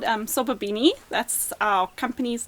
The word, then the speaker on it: Sobabini: Okay, well, it's called Sobabini.